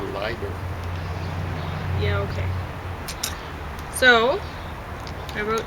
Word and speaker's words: Leiber: name of this uh german pronunciation is a lighter yeah okay so i